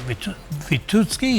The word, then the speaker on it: Witucki: We're joined by Marek Witucki, who's chairman of Konfederacja Lewiatan. I hope I pronounced your surname correctly.